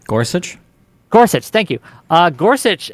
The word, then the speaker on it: Gorsuch: the guy's name uh starts with a g Gorsuch Gorsuch thank you uh Gorsuch actually uh the